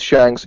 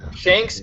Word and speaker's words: Shanks: Like, imagine if it's a Shanks rhymes with Yanks.